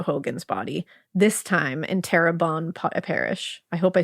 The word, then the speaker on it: Terrebonne: Just 2 months after the discovery of Alonzo Hogan's body, this time in Terrebonne Parish. I hope I said that right. I looked up the pronunciation.